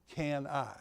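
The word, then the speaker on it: CANI: a and i and if you pronounce it it's can i c-a-n-i it stands for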